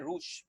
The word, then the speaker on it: Roux: Esta reconstrucción en Y se llama una gastroyeyunostomía o gastroyeyunoanastomosis en Y de Roux. Y de Rouge, muchas veces se pronuncia, ¿no?